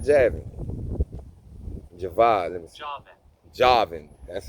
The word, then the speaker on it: Javan: Javan, that's how I pronounce it.